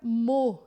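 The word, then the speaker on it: mot: Quando a gente quer só o termo mesmo, a gente vai usar a palavra mo em francês.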